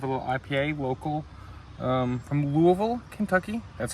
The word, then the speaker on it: Louisville: So first, I have a little IPA local from Louisville, Kentucky. That's how you pronounce it here. It's not Louisville. It is Louisville. That's how you're supposed to pronounce it. But everyone here pronounces it Louisville.